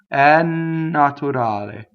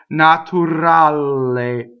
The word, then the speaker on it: naturale: The R is in between two vowels, is not rolled. The L is single L, right? So a lot of Americans will say naturale, double the L, double the R.